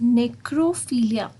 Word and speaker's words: necrophilia: Similarly here in 8th word, as you can see it, it's necrophilia. So पहले आप NECRO को break करो, that is necro, and then next is philia, right?